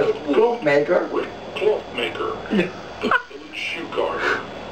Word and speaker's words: Klompenmaker: Ja, how do you pronounce it? Klompenmaker.